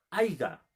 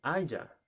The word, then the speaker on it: haya: O por ejemplo, cuando dicen aiga, ¿estará bien pronunciado? ¿Estará bien articulado esa palabra? Se dice haya, ¿cierto?